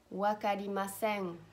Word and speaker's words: わかりません: If you remember well, in Japanese, you don't pronounce an N. It's a nasal pronunciation that you pronounce from the back of your nose. N. N. Wakarimasen.